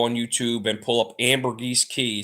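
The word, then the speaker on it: Ambergris Caye: um you go on YouTube and pull up Amber GES key spelled a m b e r g r i s key it's spelled c a ye and uh the area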